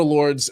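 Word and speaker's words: Lourdes: whatever it is and so they go to Lords and it's spelled like l-o-u-r-d-e-s and if you look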